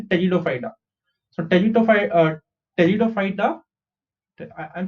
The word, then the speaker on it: Pteridophyta: Okay, the P is silent over here. So you say Pteridophyta. So Pteridophyta, I'm saying Pteridophyta.